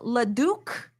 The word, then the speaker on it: Leduc: It's pronounced Leduc.